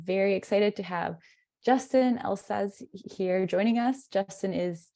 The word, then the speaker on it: Elszasz: Yeah, so my name's Justin Elszasz. You pronounced it fine. Just pretend the Z's aren't there.